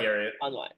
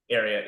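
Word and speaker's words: Ariat: just out of curiosity um well I like arot those are those are right arot yeah hopefully I'm pronouncing that correctly I want to say it's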